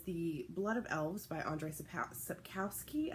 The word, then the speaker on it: Andrzej Sapkowski: The other book that I would like to get to is The Blood of Elves by Andrzej Sapkowski, I think is how it's pronounced.